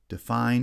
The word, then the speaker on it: define: Define has stress on the second syllable only, and the first syllable is unstressed.